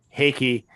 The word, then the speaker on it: Heike: I believe it is pronounced Heike.